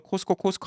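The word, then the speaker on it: Costco: 한국에서 코스코 그러면 코스코 하는 게 좋은데 뭐 코스트코까지는 좀 그렇죠. 예, 그래도 저는 한국 가서 그거 갖고 발음 지적 안 해요.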